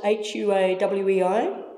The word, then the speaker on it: Huawei: You pronounce it H-U-A-W-E-I? What's the other? Huawei. Huawei, right.